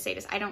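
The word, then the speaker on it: Zsadist: And yes, his name is Sadist. It's spelled with a Z though.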